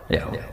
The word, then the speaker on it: Yahweh: Tuhan Yahudi tunggal itu Yahweh, nopo? Yahweh. Itu nak tengejaan Latin Y besar, A H besar, W E H besar, Yahweh.